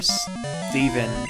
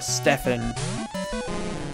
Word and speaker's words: Steven: Fisher Steven, or Stefan. Because it can be pronounced both ways, I've learned.